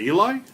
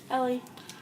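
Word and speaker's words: Elie: Eli? Is that Eli? Is his name? Ellie? Jake. Is that Ellie or Eli? Ellie.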